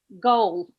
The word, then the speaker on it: goal: Goal. Goal? Goal. My goal is to learn Goal. pronunciation. Okay, that's good. Goal. Go. Okay. I would emphasize the L a little bit more.